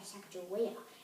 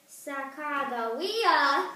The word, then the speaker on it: Sacagawea: Her name is not Sacagawea or Sacagawea. It's Sacagawea, not Sacagawea.